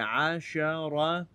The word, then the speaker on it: عشرة: That's the right way to say it. عشرة.